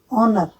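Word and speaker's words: honour: ऑनर, ऑनर में भी H silent हो जाता है।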